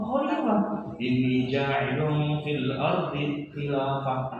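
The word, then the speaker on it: خليفة: Woi, bacanya bukan khilafah, khalifah.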